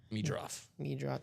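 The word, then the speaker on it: Meidroth: Let me double check that I've got the correct pronunciation, but I think it's Meadroth. Yep, Meadroth.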